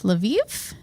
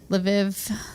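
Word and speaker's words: Lviv: in the city of laviv is that how you would pronounce that l apostrophe VI IV yeah maybe laiv laiv so via laiv right so of course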